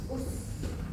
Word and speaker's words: bus: Bus. Kenapa bisa dikatakan bus? Kenapa enggak bis? di situ bacanya bus.